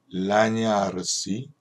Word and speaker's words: lagnarsi: ve nel lagnarsi, gn 발음은 냐 발음이 나는 거 잊지 않으셨죠?